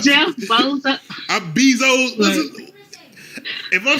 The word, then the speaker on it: Bezos: before i get off here man uh jeff bozos you know jeff bozos is like the richest role in the world you said jeff bezos if i'm saying his name wrong the way